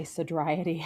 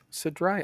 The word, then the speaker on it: sodriety: a lot of sodety I like to say sodety I was so dry nice yeah hang on